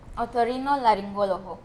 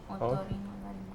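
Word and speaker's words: otorrinolaringólogo: Or you can spell it now since we got it wrong. Yeah, go ahead. Otorrinolaryngologo. O-T-O-R-R-I-N-O-L-A-R-I-N-G. O con acento. L-O-G-O. Otorrinolaryngologo.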